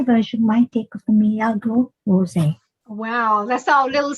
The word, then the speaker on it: Milagro: Milagro, because the Spanish pronounce L as Milagro Rosé.